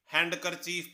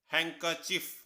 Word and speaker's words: handkerchief: हम सभी इसे हैंडकरचीफ पढ़ते हैं, लेकिन इसकी सही प्रोनाउंसिएशन है हैंकरचीफ। हैंकरचीफ। इस वर्ड में डी आपका साइलेंट है, तो सही प्रोनाउंसिएशन हुई